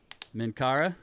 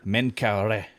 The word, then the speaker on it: Menkaure: go here uh so minkara i i'm never sure exactly how to say this you know yusuf said min kara menkaure yeah so uh but